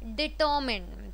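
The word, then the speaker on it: determine: You will not से माइन, you will not से debtor, ठीक है? Neither you pronounce it the first half as debtor nor you pronounce the second half as माइन.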